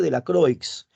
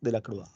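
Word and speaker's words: Delacroix: ese francés el nombre se llama eugenio vicente de la creex pero se pronuncia en francés de la cruz correcto y la pintura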